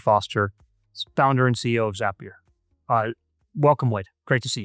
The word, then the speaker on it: Zapier: Zapier makes you happier.